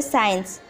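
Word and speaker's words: science: यदि सी एस के बाद आता है तो सी साइलेंट होता है, जैसे साइंस।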